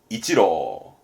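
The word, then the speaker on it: 一郎: 그럼 발음은 이치로. 요게 이치로입니다.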